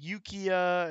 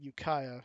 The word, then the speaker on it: Ukiah: on there oh Ukiah he was calling it yukia and whatever it's in Ukiah UK IH people that live in